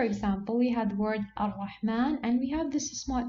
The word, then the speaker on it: ar-Rahman: Here we have to pronounce it as if, exactly, as if the word is written like this. Ar-Rahman.